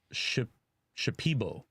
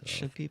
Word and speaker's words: Shipibo: earlier in the Amazon in Peru is it's Shipibo is the name. Cuz I know I I mispronounced it earlier, so I wanted to The girl you'd like to get Shipibo, oh sorry.